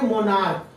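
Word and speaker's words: monarch: देखिए तो मोनार्क, ये CH आया, इसका उच्चारण क्या बन गया, मोनार्क। इसको पढ़ते हैं मोनार्क, इसका मतलब होता है राजा या राजसी। तो देखिए ये CH का उच्चारण क बन गया, तो इसमें केवल क्या जोड़ेंगे, S जोड़ेंगे।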